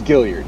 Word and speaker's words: Gilliard: am I pronouncing your last name right? Yeah, it's Gilliard. Yeah. Gilliard, so sorry.